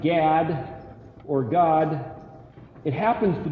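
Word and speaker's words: גד: the word spelled gimel dalet gimel dalet is pronounced GAD or God it happens to be the the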